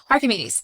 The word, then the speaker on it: Archimedes: That's how you say it, right? It is. Why am I doubting it all of a sudden? I don't know. Archimedes.